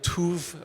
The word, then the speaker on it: TÜV: She is with TÜV Rheinland. It's T-U-V. I had to learn to pronounce it TÜV.